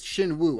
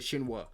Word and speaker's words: Shin Woo: yeah so it's it's shin woo i said shinwa it's shin woo shin woo shin woo